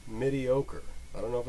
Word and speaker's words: Midiocre: using a program called mediocre I don't know if it's supposed to be pronounced mediocre but it's midi because it's midi format and all you use